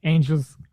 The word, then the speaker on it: Angeles: race director of the Angeles. We have such a hard time remembering that you just pronounce it like Los Angeles.